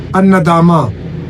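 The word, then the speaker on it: الندامة: इस तरह कुछ अल्फाज हैं जैसे अन नदामा, तो इस हवाले से कि जब ता आगे एंड पे वो प्रोनाउंस नहीं होगा तो इसको हम कहेंगे अन नदामा।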